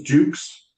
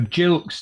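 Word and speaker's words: Gilk: What was this, Jukes? Dukes? You're calling it Jukes or something? No, Jilks. It's G-I-L-K, spelled pronounced with a J.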